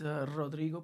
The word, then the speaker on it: Rodrigo: So, again, my name is Rodrigo. So, if you cannot roll your R, that's fine. But that's how you're supposed to pronounce it at least.